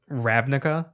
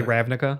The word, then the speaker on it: Ravnica: for the long time I did what rabbika or rabbinic huh ruining is actually Ravnica yep yeah it's not